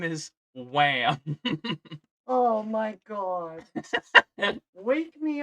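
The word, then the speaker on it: Wamuu: So his name is Wham. Oh my god. Wake me up before you go. Yeah, put this back on. It's not over yet, Oh. but it's Japanese, so it's pronounced Wamu.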